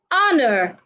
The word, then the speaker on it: honor: a deep breath remember the only time you need to take a deep breath is when the age is not silent if the age is silent then do not take a deep breath instead hold your breath so you go air